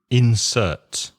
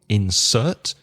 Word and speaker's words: insert: Insert. When it's a verb, you stress the second syllable, insert. When it's a noun, you stress the first syllable, insert. So there's an insert.